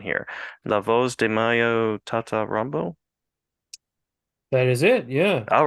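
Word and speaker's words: La Voz de M.A.Y.O.: Tata Rambo: you might have to help me with the pronunciation here Laos de Mayo Tata Rambo that is it yeah all right all right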